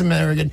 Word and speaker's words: Amerigeddon: It's called, how do you pronounce it? Amerigeddon. It is Amerigeddon.